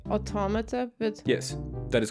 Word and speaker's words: Automata: a poopy I was being like I say automata yes that is correct okay alright someone